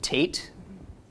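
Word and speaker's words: Tet: looks something like that this letter is called Tate then it makes the sound of the letter T the ninth letter which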